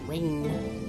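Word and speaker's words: Ryne: It still messes with my brain that's pronounced rain. Reen. Looks like Rhine.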